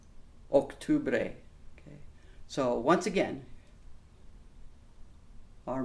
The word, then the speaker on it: octubre: Again, similar, but we have to watch the pronunciations there, especially those hard O's in noviembre and octubre.